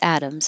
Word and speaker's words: atoms: And atoms, the T sounds like a D.